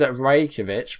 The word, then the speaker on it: Rajkovic: So it is Predrag. And his surname is Rajkovic, which I wasn't too far off, actually.